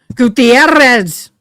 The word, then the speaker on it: Gutierrez: And grandma did I She goes, "You got to learn how to say it right. Gutierrez." And I couldn't roll my Rs.